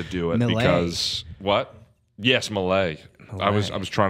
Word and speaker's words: Millea: had something to oh my last name is pronounced Malay oh Malay excuse me